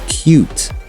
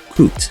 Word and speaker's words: cute: So Americans say fuel and cute, similar to the British accent, not fool and coot.